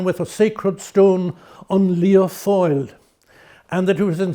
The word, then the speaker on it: Lia Fáil: So give us a pronunciation again of the Gaelic. On Lia Fáil.